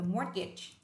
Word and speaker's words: mortgage: một khoản gọi là mortgage. Mortgage. Ở đây mang nghĩa là thế chấp ạ. Mortgage. Mortgage, không phải là gây đâu ạ, đọc là mortgage.